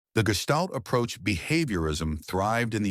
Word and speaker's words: Gestalt: Gman Mandler 2002 an important development in Europe at the beginning of the 20th century was Gestalt pronounced Gestalt psychology.